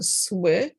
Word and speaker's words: słychać: Like remember the Y is like the I in bit in English, right? So słychać. Oh, this looks really weird, but słychać, and the emphasis on the first syllable.